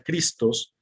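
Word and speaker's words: Χριστός: y cuando escribimos en la palabra cristo en griego que se pronuncia cristos sus dos primeras letras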